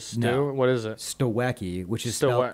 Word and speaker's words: Stawecki: Stawecki, which is Stawe- spelled STAWECKI.